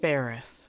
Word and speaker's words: Bereth: Bereth. That's how you pronounce it.